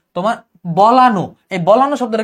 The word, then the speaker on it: বলানো: যেমন বলান, এটা কিন্তু বলান না, এটা হবে বলানো।